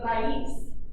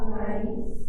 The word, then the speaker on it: raíz: I heard some people trying to roll their R's. If you can't roll them, don't worry about it. If you can, awesome. Go ahead and try that again for me.